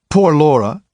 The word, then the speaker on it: Poor Laura: how is poor Laura poor Laura was always pronounced as one word poor Laura oberon's sister was so